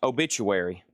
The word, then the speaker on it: Obituary: Obituary. Obit-u-ary. Pronounced obituary.